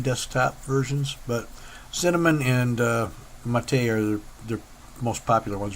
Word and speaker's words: MATE: It looks like it's spelled mate, M-A-T-E, but from what I understand, it's named after a soda pop from Brazil or something called Mate. I've never seen it or had it, so I don't know.